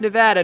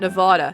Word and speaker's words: Nevada: Little known fact, it's pronounced Nevada, not Nevada. Everyone I've met who isn't from the Southwest pronounces it like the latter, despite that being wrong.